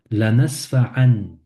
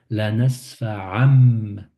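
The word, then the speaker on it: لنسفعا: La nasfa'an, la nasfa'an, mais c'est plus an, ça devient am pour faire la liaison. La nasfa'am, la nasfa'am bi, La nasfa'am bi.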